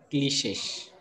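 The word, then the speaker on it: cliché: It is called cliches. You have to pronounce it cliche, and its plural is cliches.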